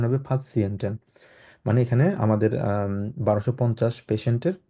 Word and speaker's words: Patienten: Patienten, এটা যদিও পেশেন্ট ইয়ে, কিন্তু উচ্চারণ হবে Patienten।